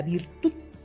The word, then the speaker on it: virtud: Por ejemplo, la palabra virtud termina en D, ¿no? Y el mayor golpe de voz está en la última sílaba.